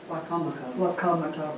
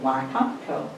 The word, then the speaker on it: Wicomico: How do you say it? Wicomico. Wicomico. Of course, that makes a lot more sense. It was sounded out.